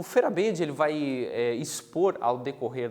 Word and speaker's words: Feyerabend: A gente vai pronunciar aqui, usar a pronúncia Feyerabend, tá?